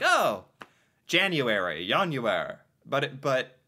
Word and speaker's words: Januar: I was like, oh, January, Januar. But to pronounce it correctly is the key. I want to have good pronunciation. Januar. Is that better? I think that's better.